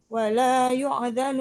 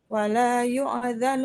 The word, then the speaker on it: يؤذن: هذا يوم لا ينطقون ولا يؤذن لهم فيعتذرون Ulangi. ولا يؤذن لهم فيعتذرون Wala yu di situ hamzah yang sukun bukan ain.